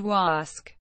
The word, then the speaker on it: Wasque: Norton Point, a narrow barrier beach, connects Martha's Vineyard and Chappaquiddick between Katama and Wasque, pronounced way-sqwee.